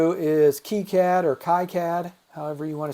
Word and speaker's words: KiCad: and we we refuse to use the French pronunciation so we say kayakad instead of keycad oh it's it's Key Cat actually the French pronunciation yeah he originated in France so that's that's the French pronunciation is keycad so here to the to the board